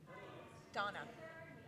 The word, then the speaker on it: Dana: Donna. Donna. It's spelled Dana, but it's pronounced Donna.